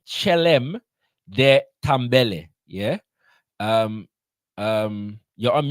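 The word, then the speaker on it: Kyélem: You're on mute, brother leader, but I believe that the KY if it's consistent with other African languages in the region, would be pronounced with a ch sound. Chi, yeah. Chelem.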